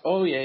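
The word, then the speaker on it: Ouya: Well, the first ever Android-powered console, I believe it's pronounced Oye, will be available to own in the U.S.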